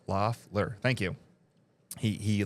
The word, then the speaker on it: Loeffler: As Brad Lang says, Loeffler. Thank you. He like put it out so I can pronounce it right.